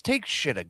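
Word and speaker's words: Takeshita: Can Can we just pronounce it right, please? It's take shitta.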